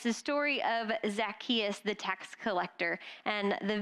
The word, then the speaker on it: Zacchaeus: that uh like this zacchaeus what no it's like zach just say it after me zacchaeus zackarecka dingdong all right